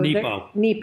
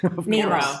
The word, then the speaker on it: Nepo: So Nepo. Mark Nepo. Did I say it wrong? Nemo.